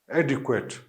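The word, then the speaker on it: adequate: होगा, सॉरी, ये श्व साउंड से शुरू होगा, डी क्वेट, के डब्ल्यू, फिर श्व sound and then T, एडिक्वेट, ठीक है। एडिक्वेट भी पढ़ते हैं और ये आपको पता है कि अमेरिकन और ब्रिटिश प्रोनाउंसिएशन में जो है ये काफ़ी वेरिएशन होती है, तो इसको एडिक्वेट भी पढ़ सकते हैं, एडिक्वेट भी पढ़ सकते हैं।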